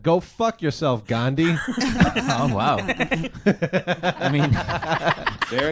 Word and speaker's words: Gandhi: You can't even pronounce it right. It's Gandhi.